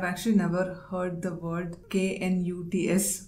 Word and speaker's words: Knut: I've actually never heard the word K-N-U-T-S pronounced. It's not nut, it's knut.